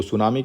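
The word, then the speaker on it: tsunami: या 7 नवंबर को सुनामी की स्पेलिंग याद करके जाइएगा हो सकता है जनरल इंग्लिश में पूछ ले तो आप सा से यस से मत शुरू कर दीजिएगा टी में साइलेंट है तो वर्ल्ड सुनामी डे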